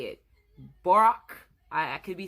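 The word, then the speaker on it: Björk: I only know how to spell it. I don't know how to say it. Brock.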